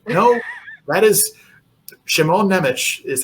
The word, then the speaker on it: Nemec: swear to God, when I first heard someone pronounce his name, I'm like, well, that can't be right. No, that is Simon Nemec is how you say it.